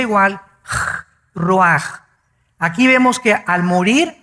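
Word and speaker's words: רוח: El ruaj que se escribe r u a c h ruach en el hebreo y se pronuncia igual roj.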